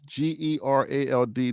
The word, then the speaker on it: Gerald: Gerald, my name is Gerald, not Gerard.